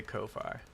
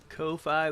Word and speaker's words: Ko-fi: I'm gonna just say Ko-Fi. Even though it looks like coffee.